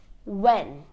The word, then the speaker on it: when: Whenever we have WH, the H always becomes silent. A few examples: what, when, white. Can you hear the H? No, because I'm not pronouncing the H, I'm only pronouncing the W.